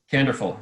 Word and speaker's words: Candorful: of kandor full is that correct did i pronounce it right canderful yep that is how to say it slowly